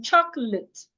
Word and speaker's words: chocolate: But when you have that same laid as a part of a word as in chocolate l a t e will not be pronounced laid again instead it will be pronounced lit lit chocolate not chocolate or chocolate.